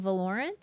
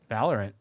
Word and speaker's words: Valorant: Valorant. Oh, wrong emphasis. Valorant? Is that how you say it? My dad says it all the time. But he says Valorant? Wrong emphasis. And a wrong syllable?